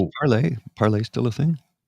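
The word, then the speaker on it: Parler: social uh so parlay parlay still a thing remember well okay everybody used to call it parlor I'm like no it's parlay oh spelled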